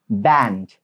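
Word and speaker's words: banned: Saya baru tahu juga ini soalnya biasanya cuma dibanet ini, dibanet ini dibanet ternyata ini band.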